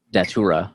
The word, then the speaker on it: Datura: uh tag is data underscore a d yeah datura okay that's how you pronounce it datura okay yeah so speaking of